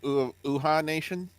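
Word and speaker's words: Uhaa Nation: Uha Nation, Yeah.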